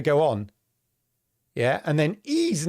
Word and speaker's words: Ys: I looked this up because you think, well, how do you say that? Ease? It's ease. It's ease. Ease.